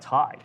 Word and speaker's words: Tai: If you are a freight broker or a 3PL trying to expand quickly, TIE offers unmatched speed and scalability. So you can go to TIE, it's spelled TAI, and that's TIE TMS.